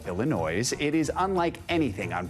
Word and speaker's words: Illinoise: I did not pronounce that wrong. That is the name of a new musical, the word Illinois with an E at the end, so Illinois.